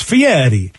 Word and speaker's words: Fieri: the United States and so then it's Italian so it's Fieri okay Fieri you know when you're rolling that's why it's Fieri because you know like in you know in in Spanish you roll those R's you kind of do